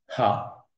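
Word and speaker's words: ה: Mais cette première lettre-là, dont je n'ai pas entendu le nom, Le hé, là qu'on va prononcer ha, ça se prononce ha, et dans cette formulation-là.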